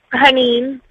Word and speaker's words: Hanin: Haneen. Haneen. How do you spell that?